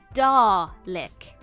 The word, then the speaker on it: Dalek: It's pronounced DARLEK, as in DARLEK. What does the Doctor eat with their spaghetti? Dalek bread. Nope, sorry, that joke fundamentally does not work. Apparently, Dalek and garlic don't rhyme, unless you're putting an erroneous R in there, which apparently I seem